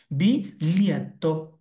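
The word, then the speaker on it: biglietto: তাহলে আপনি ওটা বলে দিন, এটার উচ্চারণ হচ্ছে বিলিয়েত্তো, বিলিয়েত্তো, বিলিয়েত্তো।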